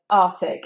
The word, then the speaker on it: Arctic: Now I have to be honest with you, I have said this incorrectly myself. So I've said Arctic instead of Arctic. But actually you need to say both of those C's, so you've got two K sounds.